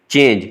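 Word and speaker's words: change: फिर चेंज के लिए देखें ये चा के लिए हो गया और EN हो गया और आखिर में जे के लिए चेंज, क्योंकि ये जे की आवाज़ निकल रही है जो कि सॉफ्ट जी है।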